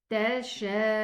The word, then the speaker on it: تشاءون: Meaning I'm gonna apply this mad when I pronounce the hamza. The hamza, dhamma, has a waw after it. So it's gonna be pronounced oo, 2 counts. So I'm gonna extend this alif 4 counts, but the waw is 2 counts.